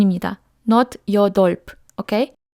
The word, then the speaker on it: 여덟: Non, 여덟, d'accord? ㄼ est un double patchim et ㅂ n'est pas prononcé.